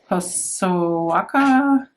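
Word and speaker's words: Hosokawa: Hosoaka.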